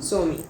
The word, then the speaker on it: Somi: Somi. I just pronounce it as Sumi.